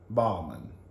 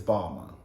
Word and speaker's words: Balmain: Balmain. But I think the N is silent. I think it's Balmain. Balmain. Balmain. Yeah, I think that's how you say it. I think the N is really silent.